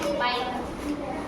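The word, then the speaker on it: bike: किसी भी वर्ड में इ हमारा सबसे लास्ट में आता है तो इ हमारा साइलेंट हो जाता है।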